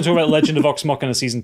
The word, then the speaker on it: Vox Machina: I was going to talk about Legend of Vox Machina Season 2, but Pip insisted that I talk about it, so.